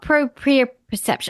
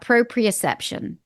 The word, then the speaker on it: proprioception: Now, what about proprioception? I never know how to pronounce that, Wendy. Proprioception. Oh, is that Ali? Talk about proprioception.